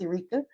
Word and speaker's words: Erica: It's spelled like Erica, but it's pronounced Erica.